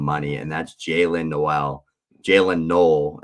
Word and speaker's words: Jaylin Noel: Jaylin Noel is actually how you pronounce it, from Iowa State.